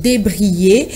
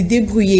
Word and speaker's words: débrouiller: Beaucoup de Congolais disent débrayer. À la place de débrouiller, ils enlèvent le O et le U et pour ne laisser que le I et dire débrayer et au lieu de débrouiller.